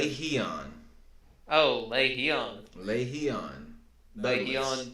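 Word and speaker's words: Lerone: We have Jamal Emmers versus, now I know how to pronounce his name. Larian. Lehion.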